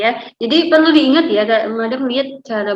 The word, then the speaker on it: madame: Oke ya, jadi perlu diingat ya, Madam lihat cara bacanya masih ada yang sedikit keliru. Kalau en français ya, akhiran itu jarang dibaca ya. Misalnya seperti madame, itu bukan bacanya madame tapi madam.